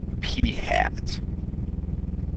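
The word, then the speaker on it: p̂: equal to 31 and this is pronounced P hat it's got a little hat on it all right if we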